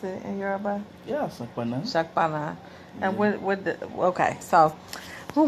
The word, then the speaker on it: Saponna: How you pronounce it in Yoruba? Yeah, Saponna.